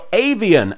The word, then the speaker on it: Avian: beat elemental hero avian except he says elemental hero avian and doesn't pronounce it like it's some sort of knockoff bottle of Evian water cyrus summons his pat